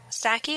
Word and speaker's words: Psaki: to mispronounce his name Saki I guess I'm assuming the p is silent uh it's titled women